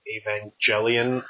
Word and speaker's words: Evangelion: to that remake of Evangelion. I'm saying that as a soft G until the day I die.